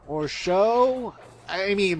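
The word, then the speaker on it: Tsao: These things are known as the Ape Generals, and they're known as General Shao or Shou. I mean, the spelling is T-S-O, but I'm assuming the T is silent because, Chinese and stuff.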